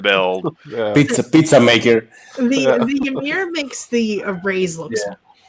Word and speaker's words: Ymir: Ymir? How do you pronounce that again?